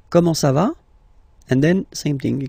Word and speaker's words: comment ça va: You raise a little bit at the end. Comment ça va?